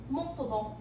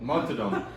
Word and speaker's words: Montaudon: Montaudon. Montadon.